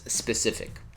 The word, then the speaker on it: specific: You can pretty much, guess how to say it, and it's specific.